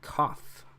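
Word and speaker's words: قاف: And like I said, a lot of times it'll be difficult for English speakers to recognize the difference between a cough and a K sound, which is actually right here, the calf.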